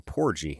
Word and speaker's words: porgy: Porgy with a hard G.